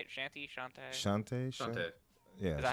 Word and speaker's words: Shantae: Shantae.